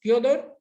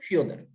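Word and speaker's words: Фёдор: Proper noun Fyodor, we pronounce as Fyodor and also Fyodor.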